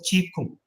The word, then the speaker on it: Qigong: Qi Kung, which is written as Qigong, Qigong. That's how written in English, but pronounced as Qi Kung.